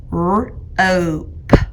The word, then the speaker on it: rope: Bossy E makes O say its name. Rope.